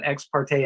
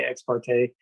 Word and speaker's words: ex parte: x um parte um i've heard it pronounced both x parte and x party so i usually say ex parte and site visits again